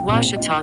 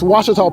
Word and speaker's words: Ouachita: How would you pronounce it? Ouachita. Ouachita. It's Ouachita Baptist University. Get it right. It's Ouachita people.